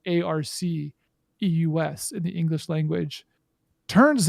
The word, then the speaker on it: Arceus: saying and josh has been saying pokemon legends arceus because that sounds like the name of a pokemon and how you would pronounce something spelled arc eus in the english language turns out it might